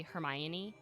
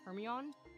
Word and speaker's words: Hermione: And it was literally just for that, like, the readers could understand how to say Hermione and not like Hermione.